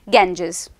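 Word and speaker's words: Ganges: दरअसल इंग्लिश के अंदर गंगा का जो प्रोनाउंसिएशन है वो क्या होता है? गैंजेस।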